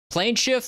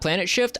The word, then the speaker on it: Plane Shift: it also welcome in welcome in plane shift not Planet shift oh was I saying it wrong I was reading it as Planet shift plan shift yeah I was just throwing in a t there there oh fancy website